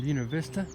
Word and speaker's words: Buena Vista: Hey guys, pardon the shaking, I'm in Buena Vista. That's the correct pronunciation.